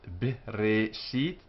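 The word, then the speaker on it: בְּרֵאשִׁית: The short e sound, bereshit, like the e in below.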